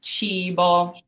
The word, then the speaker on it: cibo: So this word has an I in it, and it's pronounced cibo. So that I is a long E sound.